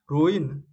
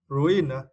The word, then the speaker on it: ruin: ruin ruin right and for this words you need to Str the first syllable Ru Ru ruin ruin is meant to damage